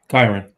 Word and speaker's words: Kyren: especially with the circumstance with, how do you pronounce his name, Kyren? Lacy? Oh, yeah. Kyren.